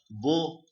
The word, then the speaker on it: beau: Urdu speakers or Hindi speakers, they can correlate this with the pronunciation of khushbo, bo. Same bo, same, exactly same. There is no difference. I mean, while pronouncing, not the meaning. Okay, this is beautiful, but it is pronounced in the same way as khushbo, bo, bo.